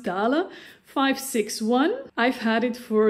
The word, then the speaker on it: Dahle: It's a German brand, so I think it's pronounced Dahle 561.